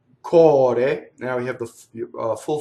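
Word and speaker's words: core: Cɔre. This is heart. It has single R, open O.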